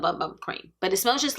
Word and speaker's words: Bum Bum Cream: Tati said it's Boom Boom Cream, but it's spelled Bum Bum Cream.